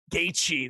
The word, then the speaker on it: Gaethje: Gaethje, that's the game.